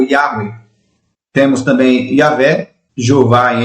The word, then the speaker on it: Yahweh: O tetagrama sagrado, a pronúncia soa como Yahweh.